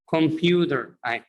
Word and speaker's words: computer: هنا حرف T between two vowels بين حرفين متحركين. So we must or should pronounce it what? D, like this. Computer. Computer, as if it's written like that. كأنها مكتوبة كده، كأنها بتنطق كأنها كده. Repeat after me. Don't say computer. Repeat after me. Computer.